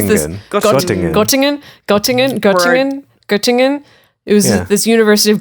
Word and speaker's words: Göttingen: How do you think I pronounce this? Göttingen. It was this University of Göttingen in Germany.